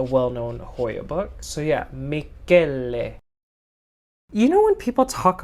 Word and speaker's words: Michele: is the Hoya CV Michele MB 1255. So I made a mistake, y'all. So it's not pronounced Michele. It's apparently Italian, so it's pronounced Michele, I think.